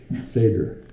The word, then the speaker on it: Seder: So they're saying Seder, and I wrote down S-A-Y-D-U-R, Seder. Oh, wow. That's my phonemes for Seder.